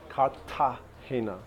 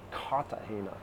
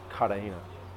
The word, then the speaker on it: Cartagena: Cartagena. I've been called out on my pronunciation multiple times. Really got to pronounce the T. Cartagena. I think I say Cartagena, which Colombians don't like too much.